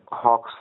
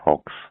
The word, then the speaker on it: hoax: See, Jijabai believed that the letter was a hoax because she did not trust Aurangzeb. 1 minute, you pronounce it as hoax, not hawks.